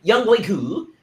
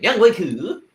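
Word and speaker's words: Younghoe: a lot of yo y'all doing young boy bad now that's how you should say his name young way that's how you say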